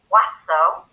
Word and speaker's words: oiseau: You pronounce bird in French as oiseau, and birds in French is oiseau. There's absolutely no difference in the way you say it.